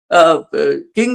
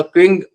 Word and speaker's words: Qing: चीन मधली पहिली जी किंग घराण्याची सत्ता झाली त्या किंगच spelling Q आय एन जी असत बर का त्यामुळे त्याला क्वींग असं म्हणायला पाहिजे त्या क्विंग घराण्याची सत्ता